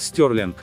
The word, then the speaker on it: Stirling: город стёрли Именно так он произносится на английском языке стёрли один из старейших